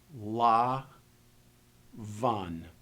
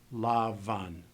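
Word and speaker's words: לבן: each letter we get la Van notice that the bait does not have a DOT this is one of the bod Kat letters so it will be pronounced soft Lavan Lavan Lavan it's the word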